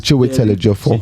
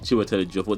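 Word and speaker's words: Chiwetel Ejiofor: They pronounce their names. Chiwe Telejofo. Chiwe Telejofo.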